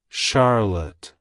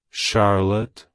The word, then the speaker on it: Charlotte: It's pronounced as Shar-lotte. Shar-lotte. Shar-lotte. To pronounce it correctly, emphasize the shar sound and the luht sound, with a soft T at the end.